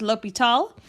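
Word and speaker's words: L'Hôpital: rule which is called l'hopital it's a french word that's why it looks like hospitals but it's pronounced l'hopital there's two indeterminate forms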